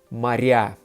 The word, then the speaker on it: моря: In the plural, you would say моря. Because again, ya phonetically is a softening vowel, whereas a is not.